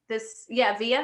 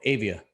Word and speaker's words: Avia: Via, is that how you pronounce it? Oh, Avia. Sorry, Avia.